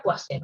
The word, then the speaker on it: Poiseuille: Recuerden que se escribe Poiseuille, se pronuncia Poiseuille.